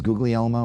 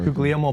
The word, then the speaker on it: Guglielmo: And his real name is Guglielmo, right? Or Guglielmo Papaleo.